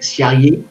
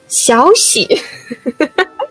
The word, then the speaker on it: Xiaoxi: How did I pronounce it? Xiaoyi? Xiaoxi. Xiaoxi. Yeah, okay, I was close.